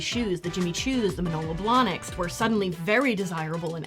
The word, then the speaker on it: Manolo Blahnik: How do you pronounce it again? Manolo Blahnik. What did I say? Milana Blancs.